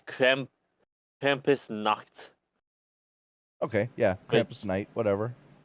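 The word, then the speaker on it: Krampusnacht: I'm not going to try to pronounce that because it's German. The English one is Krampus night. No, it's Krampus Nacht.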